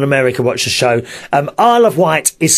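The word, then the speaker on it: Isle of Wight: watch the show um I of white is spelled Isle e of o f and white wi G HT and some people call it Izzy widget because of the way it's spelled you see probably in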